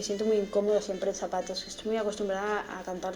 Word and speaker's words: zapatos: Zapatos meaning shoes. Remember that in Spanish, we don't pronounce our Z's like Z's, okay? They're pronounced like S's, okay? So it's zapatos, okay? It's not zapatos, okay?